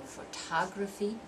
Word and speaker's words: photography: list so we go photography telegraphy democracy diplomacy political personified competitive familiar okay did you hear that second syllable longer louder and clearer we're going to move